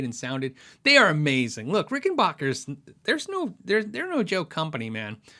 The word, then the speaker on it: Rickenbacker: I love the way Rickenbackers sound. It's like backpacker. I did a how do you say video, and I asked them how do you say it, and they said Rickenbacker.